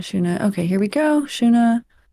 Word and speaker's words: Shuna: okay here we go shuna pronunciation s h o o hyen Nu shuna rhymes with woa which is not a word uh Siri don't look